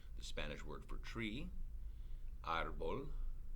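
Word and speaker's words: árbol: elle an l so its natural accent should be on the last syllable but it's not it's pronounced arbol not and so as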